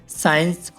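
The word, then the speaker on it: science: For example guys, Saint, साइंस और सीन में एस के बाद सी आया हुआ है तो सी साइलेंट है गाइस।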